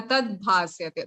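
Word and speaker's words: तद्भासयते: Na tad bhasyate. The is half and bha is full.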